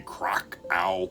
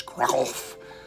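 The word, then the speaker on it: Kraków: So as I record this, 3 years ago today, I was in what Americans say Krakow, Poland. The correct pronunciation, I believe, is Krakow.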